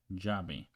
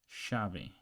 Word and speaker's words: llave: Okay, double L or double L, the Y in beyond, or in some countries the S in pleasure.